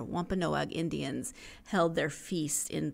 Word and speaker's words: Wampanoag: That it was in 1621 when the Pilgrims and the Wampanoag, I was trying to put too many syllables in there, Wampanoag Indians held their feast in Plymouth County.